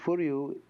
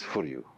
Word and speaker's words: Furyu: You could say Furyu is style.